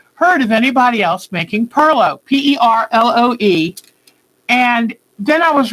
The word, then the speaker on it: Perloe: Perlo, the best I know, is spelled Perloe.